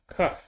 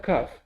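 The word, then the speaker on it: כף: Is cuff. So we have kuf, we have cuff. Kuf, cuff. Yeah. And the cuff we had before without the dot. The cuff and the cuff Sophie.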